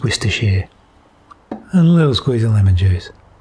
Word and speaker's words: Worcestershire: of horseradish some sour cream fun fact it's pronounced Worcestershire a little squeezing lemon juice mix him up